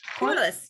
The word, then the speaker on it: Corliss: Corliss, just like that.